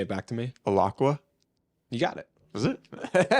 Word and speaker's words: Alaqua Cox: It's Alaqua Cox. Yeah, I wouldn't have been able to say that. Can you say it back to me? Alaqua?